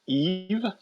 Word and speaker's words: Yves: Well, my middle name is Eve. You're not helping Not us. spelled like Adam and Eve. It's a YVES.